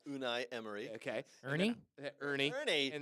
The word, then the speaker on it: Unai Emery: gonna butcher the name unai Emery I was gonna say Arnie Irma but go ahead unai Emery okay Ernie Ernie Ernie